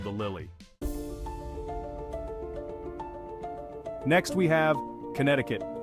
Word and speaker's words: Connecticut: Lily next we have Connecticut please forget the see hey there history Buffs